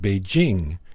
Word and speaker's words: Beijing: One, it's pronounced Beijing, as in jingle.